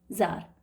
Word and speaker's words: Tsar: Russia में इसको king को ज़ार बोलते हैं. ज़ार, TSAR, ज़ार, प्रोनाउंसिएशन ज़ार है उसका.